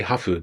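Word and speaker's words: ハーフ: And then when we say hafu, that's the Japanese pronunciation of half.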